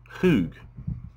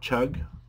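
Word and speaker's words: חוּג: So, H2329, here it is in English letters, and the way you pronounce this word is, as I understand it, hoog, not chug or cug, but hoog.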